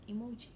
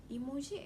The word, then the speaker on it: emoji: Today I'll be explaining to you about the word emoji. The word emoji comes from the Japanese word, which is the first symbol pronounced as E, means picture, and second and third symbol pronounced as moji, means character.